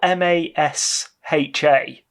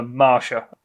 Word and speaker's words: Masha: this character is yeah it's spelled m-a-s-h-a which sounds like Masha to me but hmm I'm calling her Marsha and she gets into